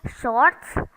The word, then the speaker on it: short: second sound or short the r in short is not pronounced either again this is British